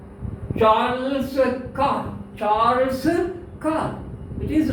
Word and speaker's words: Charles: Charles. Some people pronounce Charles, but correct pronunciation is Charles. Charles. So ending too much yes sound.